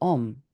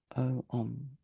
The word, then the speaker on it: Om: And on top of that appears a white syllable Om, O-Om, O-M.